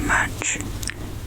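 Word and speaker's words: 木: The first one, as you can see, the ones on the top, these two are pretty much exactly the same because they are exactly the same. And this one is pronounced as mu.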